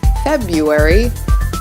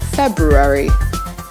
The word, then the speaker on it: February: month but think again many Americans think that this month is pronounced February when in reality the condensation is February how